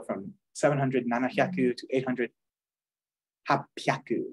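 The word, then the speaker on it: 八百: So you go from 700, nanahyaku, to 800, hapyaku. It's a P now, because it's like, who said hahyaku? What, are you laughing? You know, ha ha ha ha. Just they change it for ease of pronunciation.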